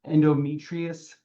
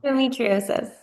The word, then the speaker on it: endometriosis: that advocates for the endometriosis. Did I just pronounce that right, Nicole? No, I did not. Um Endometriosis. Endometriosis. I almost had it right.